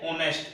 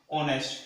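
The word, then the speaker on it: honest: जैसे एक में लिख रहा हूं ऑनेस्ट, अपने इसको बोलते हैं क्या, ऑनेस्ट, एच साइलेंट रहता है ना इसमें, ठीक है, एच साइलेंट रहता है, क्या बोलते हैं अपने, ऑनेस्ट, ठीक है।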